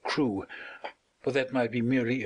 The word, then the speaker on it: Crewe: Madame Pascal pronounced it as if it were carry instead of crew, but that might be merely a matter of pronunciation.